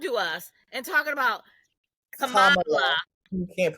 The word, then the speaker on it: Kamala: who needs to know, it is Kamala. Oh, we going? Let's. I'm just saying. People like, how do you say her name? She said it's like Kamala. So Kamala. So if you need to correct anybody, Kamala, none of that crap. It's Kamala.